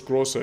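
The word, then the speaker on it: Großer: it like that so the the big it looks kind of like a b is actually it's basically like a double s in german so it's grosser yeah grosser curfest so like i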